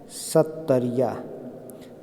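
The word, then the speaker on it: सत्रिया: सत्तरिया।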